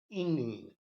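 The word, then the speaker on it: Engle: This word was derived from the name एंग्लिश, ओल्ड इंग्लिश, इंग्ल, इसको इंग्ल बोलते हैं हम लोग, है ना, जो उस समय प्रोनाउंस होता था।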